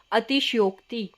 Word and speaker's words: अतिशयोक्ति: अतिशयोक्ति में क्या गलती करते बच्चे, इसमें भी श को आधा कर देते, बट इसमें जो श आएगा वो हमारा पूरा आएगा, अतिशयोक्ति। ठीक है, नेक्स्ट शब्द है, ये भी बहुत इंपॉर्टेंट, अभ्यारण।